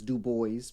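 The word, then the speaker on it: Du Bois: He pronounces his dub boys because he wanted to uh knock off the French side, you know, of the sound.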